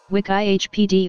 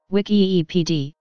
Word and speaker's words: Wikipedia: a general perfect Wikipedia's listen wick I HPD or listen wiki epd is a multilingual online